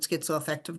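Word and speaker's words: schizoaffective: about today is the skyo effective disorder some people pronounce it skizo effective disorder but I'm a skyo effective disorder sort of person here so what are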